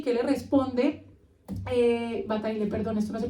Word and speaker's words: Bataille: Bataille, perdón, esto no se pronuncia así, es francés, así que perdón.